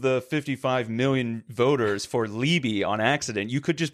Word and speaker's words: Leobi: And our name, if you don't know, is Liobi. So it's Leobi. Leobi is spelled Liebi.